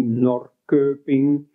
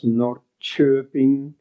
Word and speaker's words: Norrköping: Like in Swedish, you write the name of the city Norrköping, but you pronounce Norrköping, and so on.